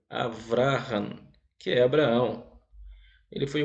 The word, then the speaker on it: Abraão: lista foi o patriarca aqui está escrito abraão abrahan se pronuncia abrahan ou abraão quebram ele foi o